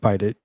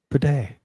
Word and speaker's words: bidet: LOL, pronounced bidet. Not bite it, bidet. That's funny.